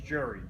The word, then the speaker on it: Jere: back to am listening my real name is Jerry jeg ER e is pronounced jerk ok here just have to say